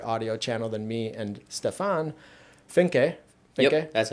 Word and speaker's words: Stefan Finke: He's going to he's on a separate audio channel than me and Stefan Finke, that's how you pronounce it.